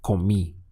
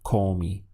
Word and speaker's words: comí: You must stress this final I in order to be understood. So it has to be comí. It can't be comí because that doesn't exist in Spanish.